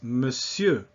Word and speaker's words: monsieur: sir or gentleman is monsieur. For one thing, it's not mon, it's just me, in spite of the way it's spelled, and sieur not pronouncing the R.